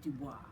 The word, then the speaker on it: Du Bois: african-american leader w eb Du Bois now I heard his name pronounced Du Bois and I've also heard a pronounced Dubois so I'm not really sure but it's D u capital B O is during the 1920s